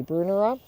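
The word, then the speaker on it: Brunnera: about how to pronounce Brunner. And Maryanne says Brunner is named after a man named Bruner, so therefore it should be Brunera.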